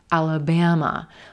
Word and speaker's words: Alabama: Do you hear that third syllable? Alabama, Alabama. I'm stretching it. I'm holding it a little longer. I've got a lot of schwas in this state as well.